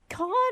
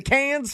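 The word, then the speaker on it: Cannes: Can I ask is it con or is it the can film festival?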